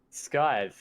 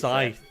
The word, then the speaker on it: Scythe: I'm still just trying to process your pronunciation of Scythe. Skies. That's how we say. Scythe.